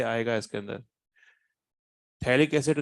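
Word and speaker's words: phthalic acid: इस कंपाउंड का नाम जो है वो थैलिक एसिड है, पथेलिक एसिड नहीं है, थैलिक एसिड।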